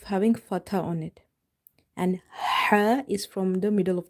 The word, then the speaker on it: ح: So for this Ha, remember to pronounce it from the middle of the throat. In order to pronounce it perfectly or correctly, you have to make the mouth wide open and you have to exhale the air out.